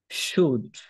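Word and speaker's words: should: বাকি সবাই ট্রাই করেনশুডশুড আপনারা আবার অন্য কিছু বইলেন না যে এখানে এল আছে ও আছে ইউ আছে তাহলে উচ্চারণটা অন্যরকম না অন্যরকম না উচ্চারণটা হবে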